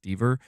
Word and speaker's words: Dever: 2, Caitlin Dever, apparently her last name is pronounced Dever, she actually played the role of Cassie Drake at the end of Uncharted 4.